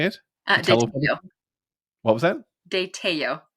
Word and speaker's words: de Tello: Tello.